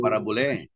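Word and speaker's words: παραβολή: Pronunciation ng parabole.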